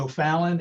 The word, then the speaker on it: O'Fallon: thank you very much Sofia yes it's O'Fallon and it's a pleasure to be here I'm